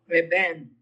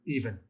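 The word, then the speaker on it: אבן: Even. Exactly. Even. Even. Cuz the aleph is silent, so just even.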